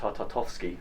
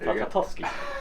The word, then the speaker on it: Tartakovsky: And we looked at the Clone Wars, and we even looked back at the Tartakovsky, said it right, Tartakovsky Clone Wars.